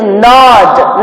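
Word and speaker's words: gnaw: Then the next meaning is nod. Nod, G is silent.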